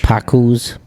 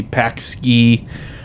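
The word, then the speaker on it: paczki: It's spelled P A C Z K I, so I would think it would be PK ski, but yeah, I I really like those.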